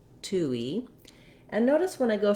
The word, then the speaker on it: touille: 2 e 2 e you won't see it in the ipa of the dictionary for this version it just happens naturally as your lips move because if i say 2 e without any gliding it would be breaking the word up too much so you will hear a little bit of a wii at the end tui in this pronunciation